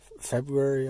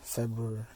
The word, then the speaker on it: February: to how to pronounce Is it February or February? Because I know a lot of people pronounce it February. They just leave out the first R.